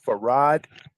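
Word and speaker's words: Farrad: have an Arab name his name is farad and and they even spelled it back in the 1930s they even spelled it f a r r a d all right and when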